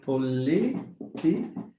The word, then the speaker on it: political: If I have a word like political. علاش؟ حيت عندي هذه فيها إك، هذه فيها إك. يعني بجوج بهم, it means in the two, stress has to fall on the penultimate syllable.